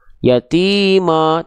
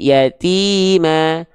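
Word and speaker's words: يتيما: kalau dia vokalnya a ketika fathah tipiskan pelafalannya bukan Ma yatima tapi yatima buka mulutnya agak senyum sedikit yatima bukan ya ya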